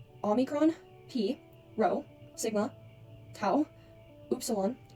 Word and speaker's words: pi: Also, fun fact for you guys, pi like in math is actually pronounced P and it comes from Greek. So, I'm not really sure why we say pi, but little fun fact for you guys, it's actually P.